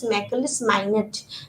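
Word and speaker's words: Macaulay's Minute: মেকলৰ মিনিট মেকলিছ মাইনেট actually আমি যদি ইংলিছত প্ৰনাউন্স কৰোঁ we pronounce as মেকলিছ মাইনেট and in Assamese আমি কওঁ কিছু অসমীয়াত ক'বলৈ মেকলৰ মিনিট বুলি কওঁ ব্ৰিটিছ শাসনৰ অধীনত আমাৰ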